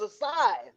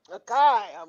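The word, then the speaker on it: açaí: I told you before, it's a sigh. A kai.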